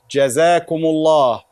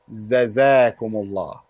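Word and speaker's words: جزاكم الله: Jazakumullah, not Zazakumullah. This is Jim and this is Za.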